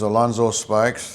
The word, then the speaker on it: Alonzo Spikes: and we're just talking and uh go ahead and state your name and spell it out for me. My name's Alonzo Spikes.